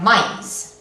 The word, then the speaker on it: maíz: Aquí tenemos una palabra que acaba con una Z, que es una consonante. Vamos a dividirlo en sílabas. Tenemos una A y una I juntas. Esto debería de formar un diptongo, porque la I es una vocal débil. Sería maíz.